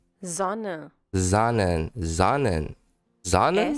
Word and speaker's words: Sonne: Sonne. Sonnen. Sonnen. Sonnen? S. S. Sonne. Sonnen. Sonnen. That's The cool. pronunciation of S is like the English Z.